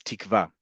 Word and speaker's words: Tikva: In modern Hebrew, we pronounce this word as tikva. Tikva means hope. Petah tikva means the gateway to hope or gateway of hope. Okay. They are making it clear to you here that it is a v, and that's why there are two vavs in the Hebrew.